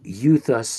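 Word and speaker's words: εὐθύς: feud, as in feud. So it'd be euthus, not euthus or euthus.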